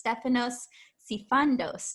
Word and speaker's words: Stefanos Sifandos: with his lovely presents and his name is stefanos sifandos did i say your last name right you did yeah i love how it rhymes stephanos it's very fun to say and